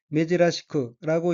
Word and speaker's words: 珍しく: 다음 어휘는 한자가 보배진자이고 일본어로는 메지라시크라고 읽으며 메지라시크는 드물다, 희귀하다, 여느 때와 다르다는 뜻의 형용사 메지라시의 쿠형으로 여기서 메지라시크는 여느 때와 다르게, 드물게라는 의미입니다.